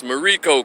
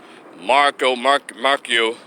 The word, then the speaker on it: Mariko: So y'all, even though he pronounced my name incorrectly, it's Mariko, Kwame. Mariko. But he called him like everybody's been calling my name, my full name, Marcio, Marcel.